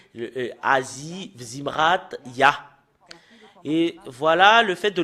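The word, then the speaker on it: יה: Et nous voyons très bien que le fait de prononcer le Yod et le He, c'est Ya.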